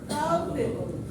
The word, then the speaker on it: culpable: Culpable, deserving blame. Culpable, deserving. This can be pronounced like this, culpable.